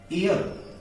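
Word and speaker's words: heir: शुरू हो रहा है, लेकिन इसका उच्चारण है एयर। क्या है इसका उच्चारण, एयर।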